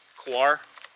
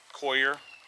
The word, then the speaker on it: coir: fancy that's pretty basic coconut kawar coir I've heard it pronounced different ways it is the husk